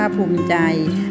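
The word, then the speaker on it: ภูมิใจ: อ่าน ว่า รส ชาติ ภูมิ ใจ อ่าน ว่า ภูมิ ใจ สาเหตุ อ่าน ว่า สาเหตุ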